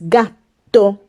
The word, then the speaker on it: gatto: Another example is gatto. The plural of gatto is gatti. You have to prolong the sound of the letter T.